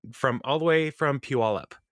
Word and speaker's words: Puyallup: So, and then another email from listener Brienne, who is coming from all the way from Puyallup. And that's how you say it, people from out of town. Puyallup, and she sent to